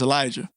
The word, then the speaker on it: Elijah: pronouncing your name wrong it's pronounced Elijah bro you got it okay so it's Elijah but it's it's not spelled the right way I just wanted to